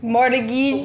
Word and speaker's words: Mortgage: Mortgage. So which letter is silent here? It's the T.